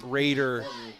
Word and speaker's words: Roeder: oh Garrett yeah Isaac Raider says that Roeder is actually pronounced Raider and that's coming from